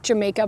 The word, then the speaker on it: jamaica: Um in Spanish, it's called jamaica. It's spelled like Jamaica, but it's called jamaica and it's made into like